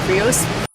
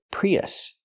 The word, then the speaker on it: Prius: even a Toyota prios it's not pronounced prios prios Toyota prios it's pronounced Toyota Prius use the short uh sound like cup and up us us not o but us relax us Prius we have two vowels we have the e sound like green beans plus